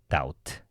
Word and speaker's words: doubt: doubt her 이런 얘기죠 doubt B 발음 안 돼요 자 뭡니까 그래서 그